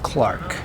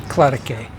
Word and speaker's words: Clarke: my name is Clark and that's Clark spelled with an e on the end if I was Spanish I'd say it clarike well I feel like